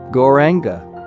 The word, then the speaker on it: Gauranga: Then, exhaling, say the word Gauranga. Long, every syllable, stretching out the vowels.